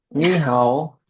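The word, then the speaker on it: 你好: Ni hao, ni Iya. hao. Oke. Oke, Jadi bacanya ni hao, oke. Nada ni dua, hao. nada tiga pertama diganti jadi nada dua.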